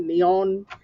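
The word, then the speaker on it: Neón: But yeah, because of the accent mark over the O, you just got to like really pronounce it. Neon.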